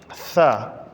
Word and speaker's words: ث: ہے، تا تا۔ تیسرے نمبر پہ حرف ہے ثا۔ ثا کے اوپر تین نقطے ہیں، ثا، سین، صاد، یہ ہم آواز حروف ہیں۔ اس میں فرق کیسے پتہ ہوگا؟